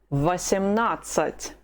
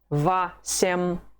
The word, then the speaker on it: восемнадцать: The letter O is not stressed. How do you pronounce it? Ah. So the whole of it is going to be восемнадцать. Восемнадцать.